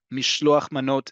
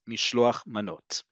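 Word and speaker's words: משלוח מנות: Okay, mishloach manot is how we say it in modern Hebrew. Again, this is not a judgment on the Hebrew you use to celebrate your Jewish identity in your respective diaspora-based Jewish community. However, in modern Hebrew, modern Israel, where modern Hebrew is the universal connector with all of us, mishloach manot.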